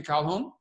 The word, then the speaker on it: Calhoun: name is Calhoun is that the right pronunciation Calhoun hello yes sir welcome to the